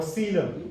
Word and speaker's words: coelom: And then we have coelom. Now, or coelom. Okay? This is how it's spelled.